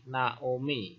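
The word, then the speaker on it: נעמי: Contohnya, ini huruf nun, N, kemudian vokal A, na, kemudian ayin, silent letter, kemudian vokalnya O, na O, kemudian mem atau M, vokal I, Naomi.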